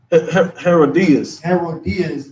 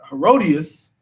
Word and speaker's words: Herodias: The daughter of Herodias danced before them and pleased Herod.